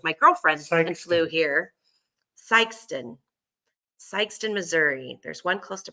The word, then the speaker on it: Sikeston: The main is on in the main one is on, can you pronounce that? Nope. S-I-K? I Sikeston? can't see it. It's Sikeston.